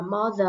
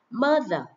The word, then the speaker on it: mother: Rất nhiều bạn đọc là mother là sai nhá không phải là chữ o không phải là mother mà nó phiên âm giống như là dấu ớ này mình có thể mình có thể phát âm chữ A hoặc là có chữ ớ một chút xíu mother mother my mother